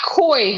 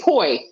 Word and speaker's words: poi: No, not koi, honey. Poi. It's spelled the same, only change the K to a P.